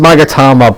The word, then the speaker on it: Magatama: I know it's pronounced Magatama, but we're in California.